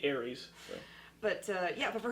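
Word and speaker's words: Ares: God of War yeah but it's spelled a r e s but that's how you spell Aries that is the right one so it would be Aries but uh yeah but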